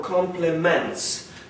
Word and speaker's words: complement: There's a world of difference between complement, spelled with E, and pronounced with A, complement, which comes from complete.